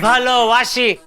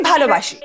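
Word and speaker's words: ভালোবাসি: वैसे मुझे वो एक वाक्य आता है, वो बच्चन साहब के गाने में आता है ना, अमी तुम्हाके भालो वाशी। वाशी नहीं, बाशी। बाशी? जी, आमी तुम्हाके भालोबाशी।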